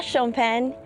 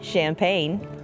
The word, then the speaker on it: Champagne: First, Champagne is both a region, La Champen, and the wine grown and made there, L Champen. But it's okay to say Champagne.